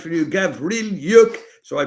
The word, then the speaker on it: Gavrylyuk: So I'm telling you, Lara Auerbach, Icarus, Vasily Petrenko, and Alexander, let me get his name right for you, Gavrylyuk, so I pronounce it right.